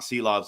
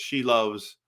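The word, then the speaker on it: Silovs: I also love it's not Seelovs, it's She Loves is how you say it. That's what the Latvian people have told me.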